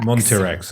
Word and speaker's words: Montirex: Montirex. Okay, Yeah. it is as it looks.